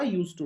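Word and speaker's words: used to: और जो लोग स्पोकन इंग्लिश सीखना चाहते हैं उनके लिए बता देता हूं, चाहे USETO हो, चाहे USEDTO हो, उच्चारण दोनों का, प्रोनाउंसिएशन दोनों का यूज टू रहेगा।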